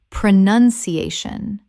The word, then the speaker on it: pronunciation: Pronunciation, not pronunciation. Pronunciation.